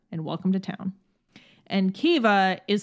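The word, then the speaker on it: Caoimhe: none the wiser and welcome to town and keva is spelled c-a-o-i-m-h-e as you can see as an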